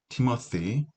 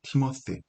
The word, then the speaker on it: Timothy: Second Timothy, 디모데, second은 후서고요. Timothy, th 사운드는 일명 번데기 발음이라고 하죠. the 사운드, 고맙습니다. thank you 할 때 그 th 사운드, Timothy, 디모데를 이야기합니다.